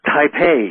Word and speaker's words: Taipei: capital of um the country of Taiwan taipe Taipei yes I don't know why I stumbled over